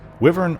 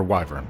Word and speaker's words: wyvern: wyvern a wyvern pronounced wyvern or wyvern both are correct was a large wing